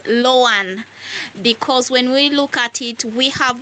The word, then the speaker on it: LOANI: an early childhood teacher I would say the correct pronunciation of the word in short in abbreviation letters should be lowan because when we look